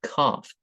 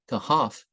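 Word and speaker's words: كهف: This, she said, is Kaf. I give the word as she pronounced it, although a schoolmaster pointed out later that the word is Kahaf, meaning simply cavern.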